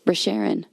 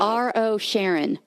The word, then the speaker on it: Rosharon: R-O Sharon. Rosharon. Rosharon? Just because it's spelled that way doesn't mean that's how I pronounce it.